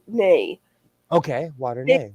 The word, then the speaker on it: Nai: It's spelled NAI, but she said water nay.